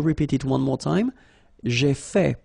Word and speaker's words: fait: J'ai fait. So remember, final T is not pronounced. J'ai fait.